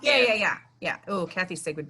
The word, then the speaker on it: Fiennes: What's the guy that Finnis? Who played him? Alfred Finnis. I'm not saying it right. Yeah, he did a good job. Somebody. Ralph Right. Fiennes.